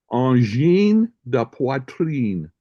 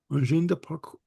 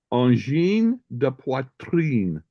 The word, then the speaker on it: Angine de poitrine: let me see if I can pronounce this group accurately. Okay. Angine de poitrine. Angine de parcours. Angine de, say it again. Angine de poitrine.